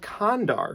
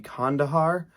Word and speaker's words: Kandahar: this movie I thought the movie was called Condor because I didn't know how to pronounce it so I went into the theater